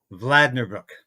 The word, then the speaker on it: Vlaardingerbroek: event and it was Christine Anderson and Ava vlader Brook yes I said her name right she even says people get her name wrong but we had a great event at